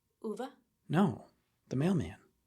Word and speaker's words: Ove: The pronunciation officially is UVA. Uva. Yeah, that makes sense. But I'm gonna keep saying a fine. That's fine. It's ova.